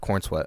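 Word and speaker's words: Corenswet: but people just like say it fast corn sweat corn so it's almost like corn sweat but spelled corn sweat yeah well he he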